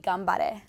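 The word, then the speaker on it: 頑張れ: Well, there's not like a literal translation, but like a similar saying would be gambare.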